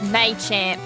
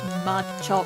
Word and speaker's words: Machamp: and a Machamp sorry it's May champ not mud chop man champ sorry it's